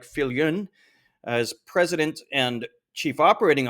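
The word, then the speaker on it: Viljoen: Now her last name looks like Viljun, but I believe the Dutch pronunciation is something like Filun as president and chief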